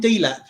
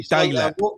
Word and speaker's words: Delap: Delap, yeah?